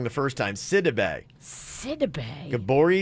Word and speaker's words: Sidibe: to Bay City Bay you're saying how I pronounce it wrong the first time Sidibe SE dabangg Gabourey Sidibe Sidibe oh my god okay s uh-huh i